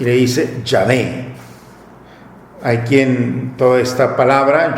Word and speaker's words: Yahvé: del pueblo de hebreo, ellos pronuncian como Yahvé. Entonces a nosotros nos ha llegado a través de los samaritanos la expresión Yahvé.